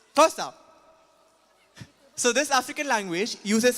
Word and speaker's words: Xhosa: this please yes okay x-h-o-s-a how would you pronounce that zosa right zosa xhosa but the reality was that I I was shocked when I found it out X is tried up xhosd it's first now it's tosa so this African language uses sounds like all